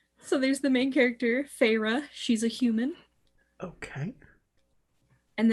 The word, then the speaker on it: Feyre: So the first character, the main character, is Feyre. Hold on. Feyre.